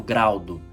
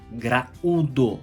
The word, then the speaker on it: graúdo: sílabas separadas exemplo é só graúdo eu não falo graudo graúdo a saúde o está